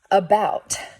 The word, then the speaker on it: about: Can you think of another word that has the schwa sound at the beginning of it, like above, where it's spelled with an A, but it sounds like an as an umbrella? About. Good. A-B-O-U-T. About has that schwa sound in the beginning too. About. It's spelled with an A, but it sounds like U, okay?